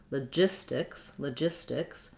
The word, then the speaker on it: logistics: a low logistics, but when I'm using it in connected speech, I'm really going to use more of a schwa there, and it'll sound like la, because my stress is on j. So this is a letter G that says the J sound, and I have a lax I vowel, logistics. Because that T comes after the S and it doesn't start a stressed syllable, logistics, I am saying a true T there, but I don't really